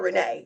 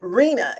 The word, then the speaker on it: Rena: I call her Renee, but Reena is the correct pronunciation of her name.